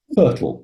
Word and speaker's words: FRTOL: for glider Pilots getting a fertile that's how we pronounce that word flight radio telphy operator